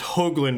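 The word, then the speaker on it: Hoogland: do you say hopeless Hoagland with a long o hug as in huggy each pronounce it as if it was spelled HOA gee all right so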